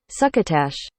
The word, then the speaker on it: succotash: even know this word how do you say this succotash that's how my brain said it pronounce succotash oh Tash succotash good to know okay this time for